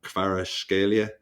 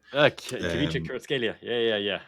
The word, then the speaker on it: Kvaratskhelia: signing him, but I'm going to butcher the pronunciation as well. Kvaratskhelia. Kvaratskhelia.